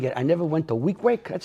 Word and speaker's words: Weequahic: we've been doing it, I never went to Weequahic. That's how you pronounce it, yeah, Weequahic?